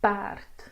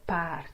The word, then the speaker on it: paard: And funny enough, you get the similar sound, but this E does not have the circumflex on top of it. So it is paard and taart because of the R.